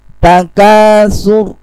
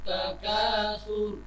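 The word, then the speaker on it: التكاثر: Takasur, perhatikan saya, takasur, bukan miring, takasur. Nah, itu berarti tipis nantinya. Alhaakumut takasur. Alhaakumut takatsur.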